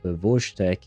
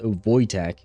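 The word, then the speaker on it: Wojtek: He's called Voeek. Uh oh, pronounced Voytech.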